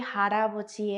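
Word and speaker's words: 할아버지: la in arrastra el sonido y se lee jarapachi y ya dijimos que Jara vochi es abuelo se escribe Hall aboy pero se pronuncia jarabe entonces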